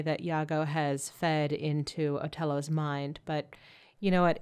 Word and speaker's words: Otello: By the way, Otello is just the Italian pronunciation of Othello.